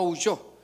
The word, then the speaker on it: huyó: Eh, yo creo que va con eh acento en la última o en la o para no para decir no huyo. Sino que no huyó.